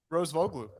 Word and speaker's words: Rosvoglou: your last name bro rose vogle it's like it's almost like a derrick rose and then add a bow and then a glue and then put it